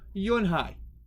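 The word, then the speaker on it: Unhei: no when i corrected it's spelled u-n-h-e-i it's pronounced yuen hai oh it's yui the boy said like you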